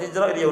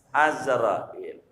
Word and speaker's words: Azrail: gundul enggak ada barisannya orang Ma Izrail udah jadi aja dah tapi sebenarnya yang benarnya azrail sama bahasa Inggris belacek